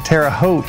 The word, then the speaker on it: Terre Haute: Terre Haute skill level tournament that is in Terre Haute, I believe is how you pronounce it.